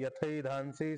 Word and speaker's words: यथैधांसि: घ्यायचं पहिला पाद आहे यथे धानसी समित् यथैधानसी ऐकार उच्चारण करा यथ धानसी समिद्धो अग्निर